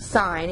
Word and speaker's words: sin: represented as s i n a and it's pronounced sine even though you don't doesn't have the e